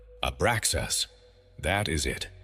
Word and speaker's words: Abraxas: 3 syllables rising through your body. Ah, beginning in your belly. Bra, resonating in your heart. Zas, completing in your head. Speak it slowly. Feel each syllable vibrate in its location before moving to the next. 1 breath. 1 continuous sound.